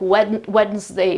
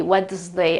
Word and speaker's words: Wednesday: many non-native speakers still pronounce this word like this, like Wednesday, Wednesday. I don't even know how to pronounce that. However, they put the D sound in it. I don't even know how, but they do. The right pronunciation is this, Wednesday, of course, we know that.